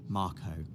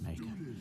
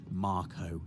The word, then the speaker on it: Mako: this is a Mako reactor Dave officially pronounced Marco right but I've always I've would pronounced it make officially it is Marco though and you can see